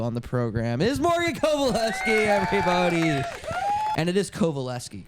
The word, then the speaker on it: Kowalewski: 1, you're obsessed with me, and 2, it's always been pronounced Kowalewski, Kowalewski. not Kowalski. Kowalski. I knew it wasn't Kowalski, but Yeah.